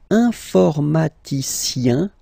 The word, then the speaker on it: informaticien: And the last group is IEN, informaticien, yin, yin, yin. So that's the way to pronounce this IEN, yin, yin.